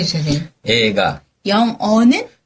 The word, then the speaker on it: 映画: 그래서 영화는 발음해 주세요, 선생님. 映画, 영어는 英語.